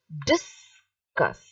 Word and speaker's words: discus: same meanings are different the first one is discuss see so that this is said loudly and the cuss is said softly because here it is a noun the discuss is a